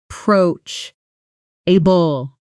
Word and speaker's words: approachable: Pronunciation kitchen approach. able stress on the second syllable approach which rhymes with coach.